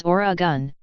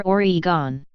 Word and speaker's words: Oregon: / Iran and / pronounced the state's name as or a gun never Oregon after being drafted by